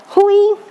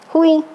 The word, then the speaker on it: ruim: ruim é é ruim ruim não tem acento por isso talvez que muita gente pronuncie ruim a onde gente não compra não aqui não é ruim mas tá errado qual a pronúncia ruim mas aí o cara não vê a senta ele manda um oi mesmo porque que não tem acento ali naquele ato é por causa do emitem uma nasal aqui por causa do